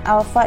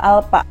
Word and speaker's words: alpha: dikali r&a sama dengan alfa dikali er ini adalah simbol dari percepatan sudut yaitu Alfa bacanya ya atau alpha lanjut kita bahas posisi